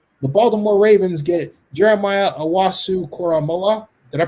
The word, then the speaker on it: Owusu-Koramoah: The Baltimore Ravens get Jeremiah Owusu-Koramoah. Did I pronounce his last name correctly? Owusu-Koramoah, thank you, out of Notre Dame.